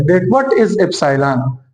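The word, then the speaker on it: epsilon: Greek symbol है, Greek letter है एप्सिलॉन, इस तरह प्रोनाउंस हो रहा है।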